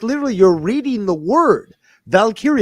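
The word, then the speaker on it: Valkyria: Valkyrie. What? No. You see a Valkyrie is something completely different. Casey. No. Valkyia. Valkyia. It's It's like literally you're reading the word. Valkyia.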